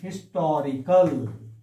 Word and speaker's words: historical: i written like this historical see here we are pronouncing h here we are not telling